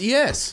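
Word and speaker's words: éS: So when you hear a pro say that, you're like, oh, it's ES.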